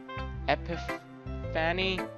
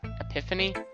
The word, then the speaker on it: epiphany: I had some kind some kind of empathy epic fanny is that how you pronounce that I recently however that's pronounced it's been influencing my my poems a bit and epiphany Epiphany that's that's how you pronounce it yeah